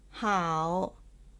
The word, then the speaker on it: 好: one how one fun so these are the words with how pronounced as the third tone how vocabulary seven eager